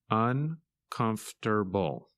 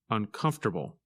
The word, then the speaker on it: uncomfortable: and it's opposite comfortable when you say this word you do not pronounce some of the letters that you see in the written word in this lesson you